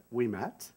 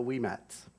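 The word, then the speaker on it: Ouimet: myself I am we Matt is how you pronounce my last name it's a lot of consonant o UI but it's we in French Matt very easy so we met um you'll never forget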